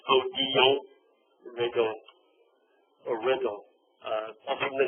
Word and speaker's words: Odilon Redon: Odilon Redon. The L is silent. Odilon Redon.